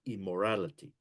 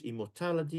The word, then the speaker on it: immortality: opposite so be careful I've noticed this in some our prayer points and people are pronouncing immortality is immorality make sure you know the difference immortality is that we will no longer die right Immortal immorality is that there's no moral in our lives okay be careful you don't